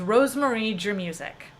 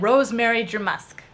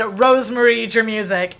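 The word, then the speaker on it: Rosemarie Germusik: mispronounced the whole name my full name is Rosemarie germ usik and she said rosemary drew Musk or rosemary germ a sec either way she mispronounced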